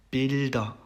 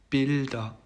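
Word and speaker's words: Bilder: 그래서 이것도 일반적으로 쓰이는 발음과 그다음에 단어의 끝에 왔을 때의 발음이 달라요. 그래서 한번 읽어보면은요. builder, builder, built, built 이렇게 되죠.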